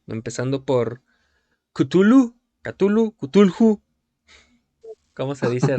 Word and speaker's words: Cthulhu: sinceros, como tú quieras, ni siquiera el mismísimo Lovecraft puso un estándar para pronunciar Cthulhu. En uno de sus libros incluso dice que la lengua humana no tiene esa capacidad para mencionarlo, así que básicamente lo puedes pronunciar como tú quieras.